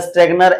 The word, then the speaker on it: Schrettinger: साहित्य में मार्टिन स्ट्रेगनर, इसका स्पेलिंग मार्टिन जो है स्ट्रेगनर SCHRETTINGER होता है, SCH स्ट्रेगनर ये होता है उच्चारण, मार्टिन स्ट्रेगनर द्वारा किया गया था।